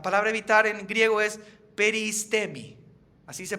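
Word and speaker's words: περιΐστημι: El significado de la palabra evitar, la palabra evitar en griego es peristemi, así se pronuncia.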